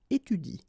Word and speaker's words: étudie: So in that case, if you want to pronounce it correctly, you should pronounce it like il étudie.